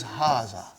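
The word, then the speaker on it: هذا: erase it ha see it is pronounced like ha huh but this Al if is is not written huh it is explained in the key also so it is haah okay haah means this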